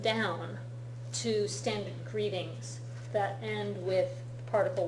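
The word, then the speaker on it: へ: This is spelled with the letter he, but it's written with the letter he, but it's pronounced e when it's being used as a particle.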